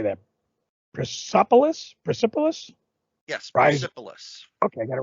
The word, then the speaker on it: Persepolis: Persepolis.